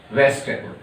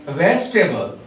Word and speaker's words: vegetable: Now third we have vegetable. In vegetable, the sound of letter E is silent.